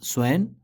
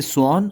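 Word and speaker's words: swan: Golden का मतलब है सुनहला, स्वैन हंस। इसे स्वॉन और स्वैन दोनों पढ़ते हैं, लेकिन इसका सही प्रोनाउंसिएशन स्वॉन होता है।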